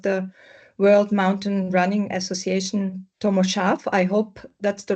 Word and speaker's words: Tomo Šarf: Yeah, good evening everybody and welcome to this interview with the president of the World Mountain Running Association, Tommo Sharf. I hope that's the right pronunciation of your name.